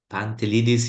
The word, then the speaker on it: Pantelidis: Now we have Nick Pantelidis, if I say it right.